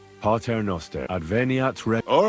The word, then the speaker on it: Pater Noster: But it's la Pater Noster. Advente ad rec... Your turn. You're saying it wrong. Pater Noster.